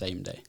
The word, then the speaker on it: SamDai: And it's spelled SamDai, but pronounced SameDay.